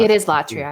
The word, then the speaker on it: latria: It is latria. I double checked. Latria. I had a feeling. I always seem to put my my accent in the wrong spot. My accent in the wrong syllable. Latria. That sounds better.